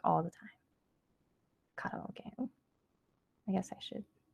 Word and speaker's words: karaoke: So just letting you know that, when you see it or when you hear it, you know that, hey, that guy's saying it wrong. It's karaoke.